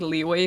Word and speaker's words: Liyue: I legally have to say it like Leeway because I know that Kuma's in chat.